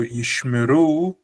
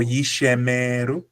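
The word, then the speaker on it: יִשְׁמְרוּ: Actually, the incorrect way of pronouncing it would be yishemeru. This would be incorrect because there's no e and there's no e. Instead, there's a shva, which means pronounce as per normal.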